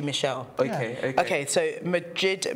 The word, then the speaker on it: Michel: I call him Michelle, or you call him Michael? It's Michael, isn't it? Is it Michael or Michelle? I don't know. Is it Michelle? It's spelled as M-I-C-H-E-L. Then it must be Michelle.